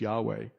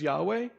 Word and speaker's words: Yahweh: It's a reconstruction, but probably be pronounced as Yahweh.